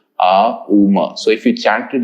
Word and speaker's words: Om: Now remember, Om as a word needs to have 3 syllables, Uma.